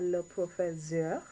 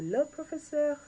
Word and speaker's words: professeur: So, if you have a male teacher, you will say le professeur, le professeur, le professeur, not le professeur. What is he? Le professeur with an S sound.